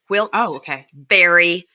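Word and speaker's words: Wilkes-Barre: trafficking and they're in Wilks Berry Pennsylvania I was told by Amy Archer to make sure to say it right it's wils okay Barry Pennsylvania okay all right all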